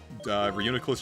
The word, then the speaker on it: Reuniclus: for a while uh I was calling it like uh reuni cuz it was like reunite and then my friend was like yeah Reuniclus I'm like oh that rolls